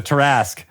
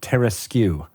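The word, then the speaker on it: Tarrasque: So the Tarask. Right. I have actually had a conversation with someone who's pronounced it Teraskew. No.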